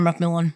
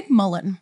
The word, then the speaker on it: McMillan: Like, it reads how it's pronounced, which I think is very helpful.